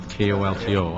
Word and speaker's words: Colton: your name wrong at kolto i figured that's what you said how do you say your name got it it's colton you got it right